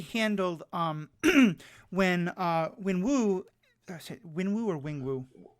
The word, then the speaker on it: Wenwu: Yeah, like I thought the way they handled when Wenwu, Wenwu or Wingwu? Wenwu.